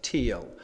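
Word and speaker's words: TEEL: So the structure that you need to remember is T-E-E-L, which is commonly pronounced teal.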